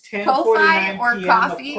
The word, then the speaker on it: Ko-fi: I think it is, I call it Ko-fi, but I think it is coffee. I saw a YouTuber pronounce it as coffee. But we started our coffee.